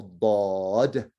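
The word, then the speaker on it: ضاد: toughest one, of course, is this one, which is a bod. Okay, the way it's pronounced.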